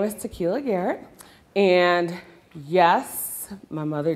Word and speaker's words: Takeelia: So hence the spelling of my name that everyone would like to say, Takeelia. So if the I is silent, it's just Takeelia.